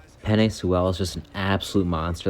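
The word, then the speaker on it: Penei Sewell: the miami dolphins like penny sewell offensive tackle organ sorry i said that dude's name wrong penny soel is just an absolute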